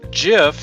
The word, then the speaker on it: GIF: Also, GIF has a soft G like giraffe.